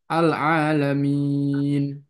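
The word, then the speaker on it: العالمين: alqasru tawasud Wal Isba jadi cara bacanya bisa dengan tiga wajah misalkan alalamin dengan koser tawasud dengan empat harakat alalamin lalu Isba en harakat alalamin ya enam harakat sampai sini ya Ana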